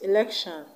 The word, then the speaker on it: election: should not be stressed the word election is from the word elect elect that's the root word now elect is eaten now or a verb